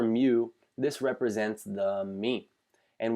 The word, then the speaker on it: mu: with a mean of mu, okay, so you would pronounce this as mu, or mu, I guess you would say here, but it is this Greek letter that looks like a U here.